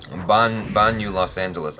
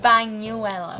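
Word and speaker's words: Bañuelos: How do you say my last name? Banu Isham. Very close. Try it again. Banu Los Angeles. I don't know. What is it again? Banuelos.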